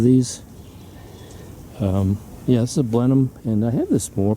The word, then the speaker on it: Blenheim: hole and um getting ready to put this blenheim that's how you pronounce it apricot tree in uh sort of